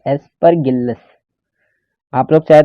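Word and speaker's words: Aspergillus: दूसरा है दूसरा है एस्परगिल्लस, ठीक है, नाम ही इतना ऐसा है एस्परगिल्लस, इसका प्रोनाउंसिएशन इसी तरह का है एस्परगिल्लस।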